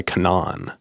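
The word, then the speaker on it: K'naan: it's called the dusty foot full philosopher by Canan it's spelled k apostrophe n a a n and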